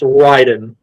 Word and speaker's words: Raiden: I've been saying Raiden for a while, but then I actually went back and I rewatched the Headmasters before we did this, and yeah, no, it's actually supposed to be pronounced Raiden.